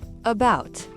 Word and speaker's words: about: About, on ne dit pas a, on dit E.